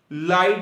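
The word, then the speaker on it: light: Word के दरमियान में, अगर किसी वर्ड के दरमियान में GH इकट्ठा आ जाए तो उनकी आवाज नहीं आती, वो साइलेंट हो जाते, साकन हो जाते हैं। इसकी एग्जांपल है जैसे कि ब्राइट होता है, लाइट होता है, माइट।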